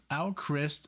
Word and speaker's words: AVKRVST: I figured it out it's called owlcrist and I'm still on the fence because I know how hard it was from me to pronounce the V because in Germany it's pronounced foul um so and there's